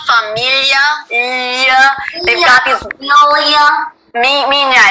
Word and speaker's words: minha: Minha. It's spelled M-I-N-H-A, so it's minha. Oh, minha, not Mia. Well, it's Mia, the way Spanish and Italian would say Mia, but in Portuguese it's minha.